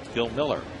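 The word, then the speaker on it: Bill Mueller: But it's spelled McGahee. It's kind of like Bill Miller.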